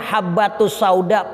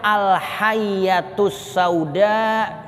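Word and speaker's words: الحبة السوداء: ada kesalahan khat iml kudunya bacanya habbatus sauda pakai ba yang titiknya atu kitabnya remeng-remeng itu titik di kitab itu kayak ada dua jadi bacaannya alyatus sauda kudunya dibaca habbatus sauda jinten hitam jinten ini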